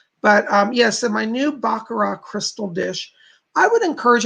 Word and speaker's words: Baccarat: r8t but it's pronounced baccarat you don't say the T it's I bugger off